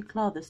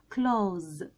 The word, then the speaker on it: clothes: التي اتش اللي احنا شايفينها دي مش بتتنطق خالص في الكلمة دي، بتتنطق الاس، بتتنطق زد. فننطقها ازاي بقى؟ اسمعوا معايا، كلوز كلوز.